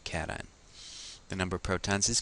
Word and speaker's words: cation: call that a cation please don't pronounce education this is a cation the number of protons